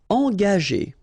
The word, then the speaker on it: engager: Okay, so remember that G is a tricky letter, because if you combine it with A, like it's the case here, you will pronounce it ga. Okay, but if you combine it with like it's the case here, well, R here, the sound E, it will go like G. Okay, engager, engager.